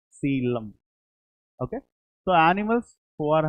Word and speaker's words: coelom: Pronunciation is coelom. Coelom.